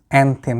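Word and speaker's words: anthem: অ্যানথেম দ্বারা এটার উচ্চারণ হবে অ্যানথেম, ঠিক আছে।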